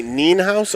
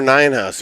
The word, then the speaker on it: Nienhaus: if Johnny goes by Nienhaus or Ninehouse. If you pronounce it in the German, you say the second of the two vowels, so it'd be E or I.